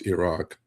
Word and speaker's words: Iraq: Uh but truthfully, it's Iran and truthfully it's Iraq. Um that's the way you should pronounce it, you know.